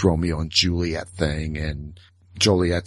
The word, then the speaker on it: Joliet: on their book that the proper pronunciation of Joliet is Joliet, not Juliet.